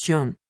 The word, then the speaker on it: Tang: His name is Tang, but it's pronounced John, is Vietnamese.